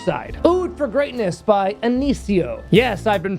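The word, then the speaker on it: Initio: on the niche side oo for Greatness by anio yes I've been pronouncing it wrong my entire YouTube career thank you John at Refinery for telling me how to pronounce this brand correctly it's not antio it's anio which sounds so much more Posh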